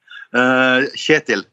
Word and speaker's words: Kjetil: K is silent. It's the first KJ is like a sound that you don't have, I think, but it's the same sound as Germans would use when they say ich.